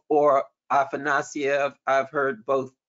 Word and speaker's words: Afanasyev: we will have a book talk on Viktor Afanasyev's Historical Materialism. So that is Sunday, November 24th at 11 a.m. Eastern. We will have a book talk on historical materialism, the book written by Viktor Afanasyev, or Afanasyev, I've heard both pronunciations.